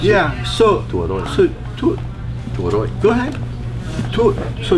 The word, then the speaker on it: Tabuaeran: Is that how you pronounce it? Yeah. So. Tabuaeran.